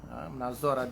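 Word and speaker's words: نظر: yaitu dengan Nazar berpikir Nazar panjang bacanya Nazar hitam binal Sur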